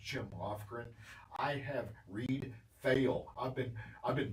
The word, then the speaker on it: Foehl: I have Reed Foehl. I've been mispronouncing his name for the past 2 weeks. It's Foehl. It's Foehl. It's a German name.